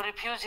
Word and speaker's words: refuse: refuse, refuse, refuse, refuse, तो देखिए रेफ्यूज़, रेफ्यूज़, रेफ जो है नॉर्मल है, यूज़ थोड़ा सा खींच रहा है, ठीक है।